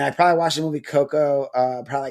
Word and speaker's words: Coco: It's just Coco with uh No A. It's not Cocoa.